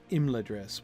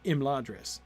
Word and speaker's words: Imladris: Typically in Elvish names, the stress is on the second syllable. Exactly. Like you might think Imladris, except not. Clearly not in that line.